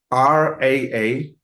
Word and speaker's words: Rahubat: We're all still perfecting the pronunciation, but it's Rahubat. Rahubat.